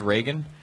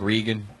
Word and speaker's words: Reagan: So I found the you want to impress white people part most interesting because you mispronounced Reagan. You were like, I like Regan.